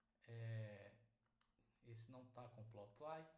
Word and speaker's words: plotly: Essa essa essa biblioteca aqui, plotl, eu pronuncio plotl, mas tem tem algumas pessoas que pronunciam de forma diferente.